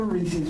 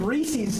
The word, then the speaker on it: Reese's: We need to have a Reese's party tonight, I think. There's none in the bucket. WPAA, where were you with this candy? I needed Reese's tonight. Reese's! Remember that. It's not pronounced Reese's, Reese's.